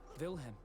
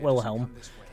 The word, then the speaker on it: Wilhelm: It's Wilhelm, not Wilhelm.